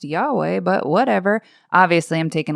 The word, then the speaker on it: Yahweh: And I'm guessing Jesus probably thinks, it's technically pronounced Yahweh, but whatever.